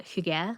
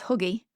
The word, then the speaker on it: hygge: I used to pronounce it as huggy. Well, I like that though cuz it's like, you know, it's like a hug, like cozy.